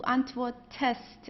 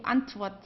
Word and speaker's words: antwortest: Okay, so ich antworte, du antwortest. If there wasn't an E, you would say du antwortst. Okay, which would be a little bit difficult to pronounce.